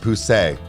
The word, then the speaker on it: Poussey: ball drop so oh let's see okay it's pronounced poussey well no I'm pretty I'm pretty sure from